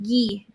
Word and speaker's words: Guy: make you a card and she was like guy lafleur and i was like i don't know who that is but i'm going to do it sorry someone told me it's pronounced gee gee yeah sorry sorry ghee if you're listening he's not oh but yeah